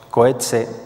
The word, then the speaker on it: Coetzee: libro 'memorias mecanismos internos cohete o cohetes ya según la pronunciación afrikáner señala que no hay